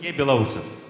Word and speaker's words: Beloussov: And then the last jury member, Serguei Beloussov. Do I pronounce it well? What? Do I pronounce that well? More or less. How do you pronounce it in Russian or Ukraine? Beloussov.